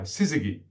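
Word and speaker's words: syzygy: the tongue uh it's spelled s-y-z-y-g-y sizzigi which is which means two into one that begins regeneration it's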